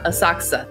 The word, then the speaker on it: Asakusa: name I can never say correctly um yeah a saksa that's it interesting my my mouth always chirps